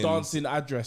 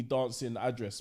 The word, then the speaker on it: Damson Idris: Dancing address.